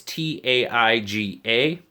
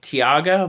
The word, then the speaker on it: Taiga: this one is the CJ RB j 1903 tyga i believe is how you say it it's ta IG a first I thought it was t Agha but the a is before the I so